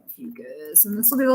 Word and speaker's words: Ophiuchus: I was saying it wrong for like half of the times I said it, but it is Ophiuchus.